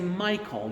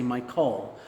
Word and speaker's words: Michael: a little more strongly such as in my name you would say Michael you would say my the first syllable a little more strongly you wouldn't say Mich Cole um well you can